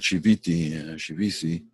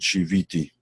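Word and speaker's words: שויתי: Ashkenazim, in other words, people of European descent pronounce it shivisi. People of Sephardi descent, in other words, Middle Eastern descent would pronounce it shiviti.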